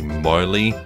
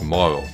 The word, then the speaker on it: Marle: Lots of people think it might be Marley or Marley. It's not, it's Moro, because the Japanese version of her name doesn't have the E at the end.